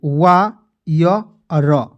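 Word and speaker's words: wire: यहां पे आई आर ई आएगा तो उसको उच्चारण के रूप में क्या होगा आयर के रूप में ठीक है तो य पे वा य र डब्लू आई आर ई क्या पढ़ेंगे वायर दोस्तों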